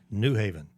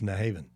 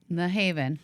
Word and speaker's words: New Haven: And folks from Connecticut know that I know how to pronounce it. It's not New Haven. If you're from Connecticut, it's New Haven. New Haven.